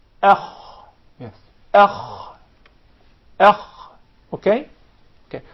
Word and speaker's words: أخ: Then you come to the kha, which is heavy, you say akh.